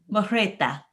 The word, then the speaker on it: Mehrotra: Today, we have a very special guest with us, and I hope that I pronounce her name correctly. It is Pronitra Mehrotra.